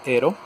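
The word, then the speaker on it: Aaero: a llegar un juego se llama hero viene escrito como aero o algo así pero su pronunciación es hero de xbox van y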